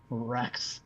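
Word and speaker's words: Reks: thank all the gods LOL a normal name Rex except I went no such luck it's pronounced it's spelled r KS correct all right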